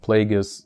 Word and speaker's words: Plagueis: actually darth plagueis and Plagueis William at Google that it's written like it's spelled like plague and is so Plagueis it's a single word